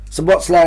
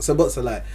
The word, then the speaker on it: Szoboszlai: Szoboszlai had other midfielders next to him, so he moved up more.